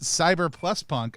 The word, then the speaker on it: CBR+PNK: I'm going to pronounce it CBR+PNK. I guess I actually have never said it out loud before. Is that correct? Yes, that's correct. All right, just making sure.